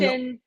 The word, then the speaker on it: Michalyshen: Michalyshen, Michalyshen, Michalyshen.